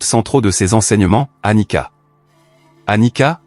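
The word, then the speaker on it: anicca: Anika prononcé Anita est le mot pali pour impermanence.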